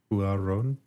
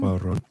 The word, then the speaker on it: Cuarón: I don't know how to pronounce that last name. Rivera. Cuarón? What'd you call him? Cuarón.